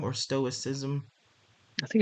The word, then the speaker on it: stoicism: now, but what that makes me think of, stoicism, my tongue is twisted, stoicism.